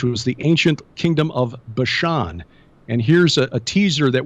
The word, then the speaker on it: Bashan: Bashan, people who've followed the teachings of Dr. Michael Heiser know that in Ugaritic, which is a Semitic language similar to Hebrew, the pronunciation would have been Bathan.